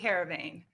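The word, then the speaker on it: Heerenveen: So how did it go about getting that professional deal with okay, is it, you're gonna have to pronounce it Yeah, for me. SC Heravane.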